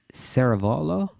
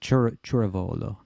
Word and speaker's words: Ceravolo: Okay, this question is coming from Tracy Ceravolo. No, Churavolo. It's pronounced Churavolo.